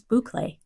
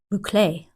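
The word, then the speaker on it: bouclé: You'll learn what is toile and what is icat and how do you pronounce boucle. Boucle. There are two accepted pronunciations.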